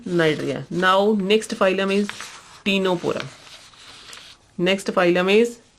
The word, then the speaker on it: Ctenophora: Now next phylum is टीनोपोरा, next phylum is टीनोपोरा। Here also C is silent in Ctenophora.